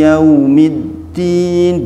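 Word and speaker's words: يَوْمِ الدِّين: Lin atau layin ngih yaitu ketika di kalimat yau yau itu kita enggak boleh gentak ngih dibacanya lembut dibacanya lembut yaitu huruf wau sukun didulu oleh harakat Fatah yau kalau kalau ada wau sukun didahului harakat fathah maka bacanya Lin atau lembut bukan gentak Nggih Maliki yaumiddin bukan Maliki yaumiddin Bukan ngih tapi Maliki yaumiddin nah terus itu kesalahankesalan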